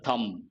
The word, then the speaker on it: thumb: a rule of the thumb b is silent a rule of the